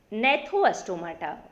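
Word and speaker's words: Gnathostomata: इसका दूसरा वर्ग है, दूसरा विभाग है नेथोस्टोमाटा। इसमें भी आप जी को साइलेंट करके ही पढ़ेंगे।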